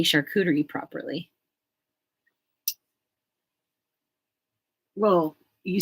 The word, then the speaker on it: charcuterie: Because I can't say charcuterie properly. Well, you say it better than I do. How do you say it? Charcuterie. Charcuterie. Like a shark, an animal shark.